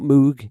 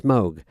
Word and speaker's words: Moog: Moga foga apps now I believe I'm pronouncing it right because it's not Moog it's Moog so then logically it should be Moga foger if there is anyone